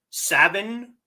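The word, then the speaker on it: Samhain: Not pronounced as spelled. Sin. Yeah. That's Irish pronunciation. Scottish. It's savin but people who have no idea.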